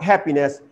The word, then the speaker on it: happiness: So here stress falls on the first syllable, not happiness. You will stress this one, happiness.